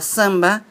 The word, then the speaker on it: samba: en la palabra zamba la primera a tiene que ser nasal porque está dentro de una sílaba y seguida en la misma sílaba por una m o n es el mismo caso de compra Santa campo lji yo no digoo